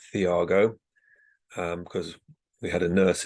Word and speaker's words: Tiago: pronounce my name, it's Thiago. But if you're a Brazilian, then it's Thiago, and this is how Thiago says his name.